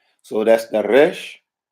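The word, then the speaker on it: ר: So the consonants that we will go over today is going to be the Resh, right? Which is pronounced R as in rain, Re, Resh.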